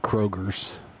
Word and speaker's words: Kroger: Oh, Kroger's with a not Kroger's. You should say Kroger, not Kroger's. H.